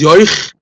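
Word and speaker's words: יויך: If this stomach eats the soup, in Yiddish the word for soup is yoich, and the word for stomach is boich, so it rhymes.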